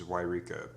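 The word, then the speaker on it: Yreka: Lower on the 5 is Wairika, pronounced Y-reek-ah.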